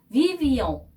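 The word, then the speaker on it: vivions: 누가 또 나왔지요네 우리들은 위비용 위비용이 동사입니다 살다라는 뜻의 위버거 동사의 1인칭 복수형 방곽을 형인데요 우리는 그때 살았었어요이 말입니다 위비용 이렇게 발음을 해야 되고요 둘레느 이러면 둘이 함께이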